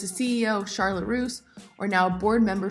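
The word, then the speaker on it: Charlotte Russe: president and CEO of Charlotte Charlotte Roose if I'm pronouncing that correctly yes Charlotte Rose perfect so another clothing retail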